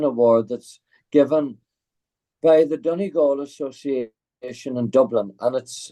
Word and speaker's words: Donegal: So many awards and accolades you have won, including the Donegal. Did I pronounce that correctly?